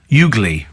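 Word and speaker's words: Ugley: The village is pronounced Ugly.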